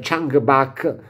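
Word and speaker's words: Chungbuk: team di esperti della Chuck book National University shambach potrebbe essere perché la u di solito si pronuncia quindi dovrebbe essere changba National University riportate in un articolo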